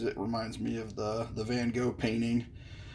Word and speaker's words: Van Gogh: I'm calling this one Starry Night because it reminds me of the Van Gogh painting, or Van Gogh, if you're pronouncing it somewhat appropriately in the Dutch language.